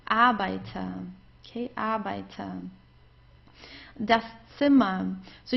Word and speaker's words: Arbeiter: So in those cases, whenever we have a vowel right before the R, we pronounce the R just like an A. You don't hear it actually at all. It's Arbeiter.